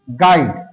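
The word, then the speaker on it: guide: না তারপরে আমরা দেখে নেব গাইড ইউ আইডি গাইড এই গাইডেও কিন্তু ইউ এর উচ্চারণ আমরা পাচ্ছি না।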